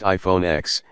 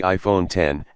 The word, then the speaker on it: iPhone X: since the original iPhone it's not pronounced iPhone X it's the iPhone 10 and the screen takes